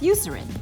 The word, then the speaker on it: Eucerin: this is the know how I am and pronunciate is does at the Eucerin yes you Serena yes the you Serena advanced Repair Cream so